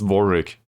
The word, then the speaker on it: Warwick: Oh no, it's pronounced Warwick.